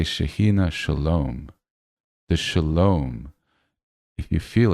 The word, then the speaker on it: Shalom: Shalom. Shalom. It's heart chakra. Yes. The the sounds not sharp. Shalom. Shalom at the end. Right. The m really brings it in.